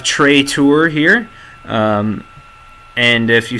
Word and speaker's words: Tray Tours: The S is silent here, so we have Trey Tour here.